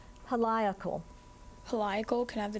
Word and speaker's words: heliacal: The Egyptian rural year was determined by the heliacal rising of Sirius. Heliacal. Are there any alternate pronunciations? Heliacal, heliacal.